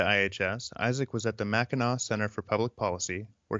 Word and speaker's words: Mackinac: You got the Mackinac Center pronunciation correct, which is pretty rare. Well, thank you. I'm actually I'm a pretty big Johnny Cash fan, and I think he says Mackinac in one of his songs.